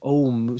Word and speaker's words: Ogham: Yeah, so the Ogham or so the G is silent, Om. So like the Greek letter Om. So we pronounce it Om, but then the English pronounce it Ogham because they don't understand the silent.